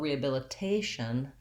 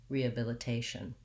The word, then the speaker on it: rehabilitation: it matches with rehabilitated but rehabilitation my primary stress is on the t syllable now the second to last syllable rhea bill there's my if sound or i often use the schwa there rehabilia tay and then finally my tion ending sounds like shun rehabilitation again try practicing in